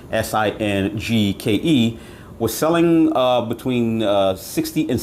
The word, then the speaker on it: Singke: Now, at the time when I saw this set, which is branded Singke, I believe that's how it's pronounced, Singke, was selling between $60 and $70.